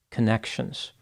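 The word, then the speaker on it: Connexions: mental health counselor who established a company called connections the name is spelled c n NE x i o NS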